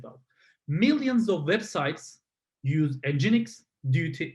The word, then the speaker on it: NGINX: And NGINX, pronounced like NGINX.